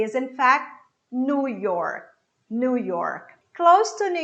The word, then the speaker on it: New York: The next one is New York. New York. E não New York. Ok? New. Esse new que a gente vê, ele vira new. New. Assim como a palavra novo. A pronúncia correta é new.